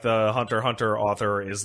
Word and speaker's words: Hunter x Hunter: get home and watch hunter x hunter so let's take some emails it's pronounced hunter hunter oh I'm sorry thanks